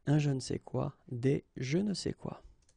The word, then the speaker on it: je ne sais quoi: And then phonetically, of course, it's the same pronunciation, okay? Un je ne sais quoi, des je ne sais quoi.